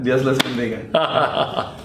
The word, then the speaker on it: Dios les bendiga: Dios les bendiga. Did I say it right? Yeah. Dios les bendiga.